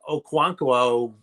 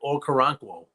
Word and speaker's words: Okoronkwo: We're in a brain fart mode, but I think I even was saying Okonkwo for his name, and it's like Okoronkwo. So there's one more syllable.